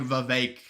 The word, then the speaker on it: Vivek: Yeah, it's just like Vivek with. He's like, it rhymes with cake.